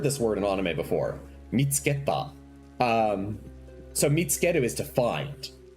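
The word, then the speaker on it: 見つけた: Oh, mitsu keta? Mitsuketa. Yes. Mitsuketa. You might have heard this word in anime before. Mitsuketa.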